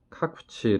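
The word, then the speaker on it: 各地: 다음 부분 은 " 미국 이나 유럽 , 여러 곳 " 이라 고 하는데 , " 카쿠치 " 라고 발음 합니다 .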